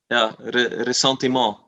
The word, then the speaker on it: ressentiment: Yeah, ressentiment.